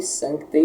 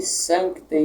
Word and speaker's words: Sancte: A letra C aqui, Sancte, ela deve ser lida não forçadamente, nem rapidamente demasiado. Sancte não é assim, nem sancte, como se não existisse.